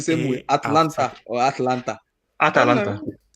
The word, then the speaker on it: Atalanta: All you need to do is there's just an A. There's an A after the T.